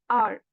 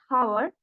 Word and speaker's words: hour: For example, HOUR. It is pronounced as R. The H there is silent. So pronouncing it as hour is wrong.